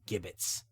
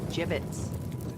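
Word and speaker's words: gibbets: They arrive at the walls of New Deon to find evidence of a mass grave with skeletons hanging in gibbits. It's pronounced jibbits.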